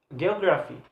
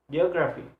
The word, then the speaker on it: geography: P for example work geography geography so geography when we pronounce this word geography geography so ography so the the stress is placed on the third syllable to the last one geography geography ooh have